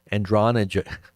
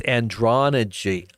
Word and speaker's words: androgyny: where they get the word android from, but androgyny. I know I'm not saying it correctly. Androna. How do you say it? just I know what I'm saying. I've totally screwed it up. Okay, so it's androgyne.